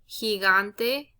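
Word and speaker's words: gigante: so if you notice this word here also has both of them and it has both sounds so you have higante which is the h and then you have the g sound okay so he okay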